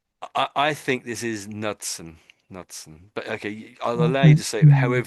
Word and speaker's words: Knudson: I'd say Nudson. Nud. So I'm I'm saying the K is is um is silent.